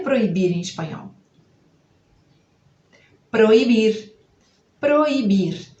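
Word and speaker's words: prohibir: A gente lê igualzinho. O que vai mudar? É que vai aparecer um H aí depois do O. É assim que a gente vai escrever. P-R-O-H e aí igualzinho ao português.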